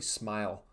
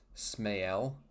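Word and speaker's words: Ismael: I think it was, it's pronounced Smael or yeah, I think it's Smael is how you pronounce it. But he actually asked people to call him Smile because he likes it.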